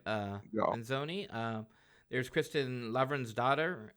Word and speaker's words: Lavransdatter: Uh there's Kristin Lavransdatter. How do I How do you say that? I always mispronounce that.